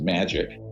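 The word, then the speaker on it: MAJIC: the majority Intelligence Committee Maj I see is pronounced magic ironically are not ironically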